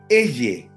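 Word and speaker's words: אֶהְיֶה: En hebreo, la expresión yo soy se pronuncia eye.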